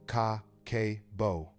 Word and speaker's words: Kakeibo: Kakibbo pronounced ka kbo translates roughly to household financial ledger.